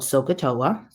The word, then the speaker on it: SOHCAHTOA: And there's a saying, it's called SOHCAHTOA.